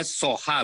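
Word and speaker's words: Soja: Ini bacanya Soha, betul ya, Ibu Herlili ya?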